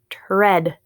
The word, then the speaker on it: tread: at all next word tread her head tread good good awesome all